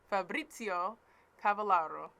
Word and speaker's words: Fabrizio Cavallaro: to the great, the amazing, the mildly amazing Fabrizio Cavallaro. I had to verify that that's how it's pronounced because I didn't want to mess it up.